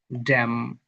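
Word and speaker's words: damn: শব্দের শেষে এম এন বসলে এন উচ্চারণ হয় না। তবে এম উচ্চারিত হয়। এম এন আছে এখানে এম উচ্চারিত হবে না। এন উচ্চারিত হবে। এটা হবে সরি এন উচ্চারিত হবে না। এম উচ্চারিত হবে। হবে ড্যাম অটম সল্যাম কন্ডেম আই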